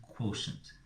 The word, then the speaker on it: quotient: known as the quotient that's how you write it quotient but it's spelled you pronounce it quotient now it's i'm taking